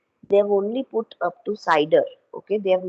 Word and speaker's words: CIDR: a classification which is known as cider or cidr or classless inter domain routing okay it is pronounced as cider okay so what we